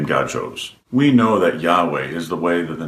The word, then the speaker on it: Yahweh: You see, Jehovah is just pronouncing the consonants of Yahweh with the vowels of Adonai and still replacing the name God chose. We know that Yahweh is the way that